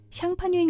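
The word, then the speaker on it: Champagne: 프랑스 샹파뉴 지역에서 생산된 포도와 전통 양조법을 따른 것만이 그 이름을 붙일 수 있다고 합니다. 이는 샴페인의 스펠링을 프랑스어로 발음하면 샹파뉴인 것을 보고도 알 수 있죠.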